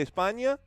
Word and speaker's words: España: ¿Qué onda, mi gente de España? Or I should say España, right? That's kind of how they say it.